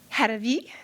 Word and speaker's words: Haravi: And we have Faiza Haji Hassan, Fatima, I didn't want to say Harave, but I know how to say Haravi, thank you.